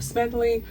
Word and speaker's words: Smedley: to do this video, the first time I mispronounced his last name. I was saying Smedley, his last name was Smedley.